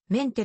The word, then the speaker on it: 明太: するというなお朝鮮半島東南部の方言では明太をメンテと発音するただし現代朝鮮語